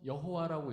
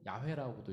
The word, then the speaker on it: 야훼: 님께서 이렇게 되는 거죠 그래서 여호와라는 것도 그게 자음만 써 있어요 모음이 없어요 그래서 여호와라고 읽을 수도 있고 야훼라고도 읽을 수 있습니다 근데 이제 히브리인들은 야훼라고 읽었어요 우리나라 성경 여호와라고 써